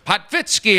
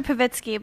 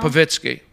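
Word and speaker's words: Povitsky: me, we have Esther Potvitsky, everybody. Yes. Do I always say your name wrong? A little. Esther Pavitsky, but you can just, little Esther's fine, you know. Pavitsky.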